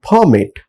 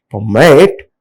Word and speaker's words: permit: They are saying permit and prefer instead of they have to say permit and prefer.